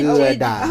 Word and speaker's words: Gouda: stuff town and close to Gouda, which is pronounced Ggaoeda. So say Gouda.